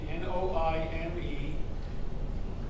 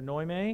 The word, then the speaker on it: Noime: john i'll spell it n-o-i-m-e and vinnie she's filipino they're husband and wife and uh they need salvation all right right for noyme is that what you said noime annoy me all right you annoy